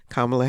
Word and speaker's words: Kamala: and just for clarification it is pronounced Comm kamla Harris is her name but thank you so